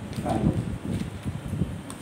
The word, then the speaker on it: Fallot: T is silent. Tetralogy of Fallot.